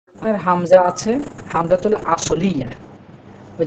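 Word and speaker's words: أصل: তার মধ্যে আসল আমরা যেটা বলি, আসলে এই আসল শব্দটা আরবি, এর উচ্চারণ হচ্ছে আসল।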